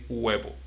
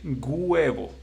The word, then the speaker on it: huevo: But the right pronunciation is huevo because there shouldn't be a sound.